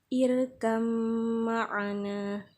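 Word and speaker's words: ارْكَبْ مَعَنَا: dimasukkan dan dites citkan irkam Marina Jadi kalau cara membacanya di Qalqalah kan salah ya nak misalnya irka berwarna ini salah Jadi yang benar irkam Marena kita lanjut ke contoh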